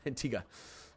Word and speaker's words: Antigua: I know how it's pronounced. I probably just, whatever. Antigua.